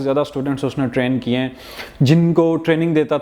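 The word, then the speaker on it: José: ही वॉज होजे सिल्वा। जे के ऊपर dot dash type आती है जो हे की साउंड प्रोनाउंस करती है।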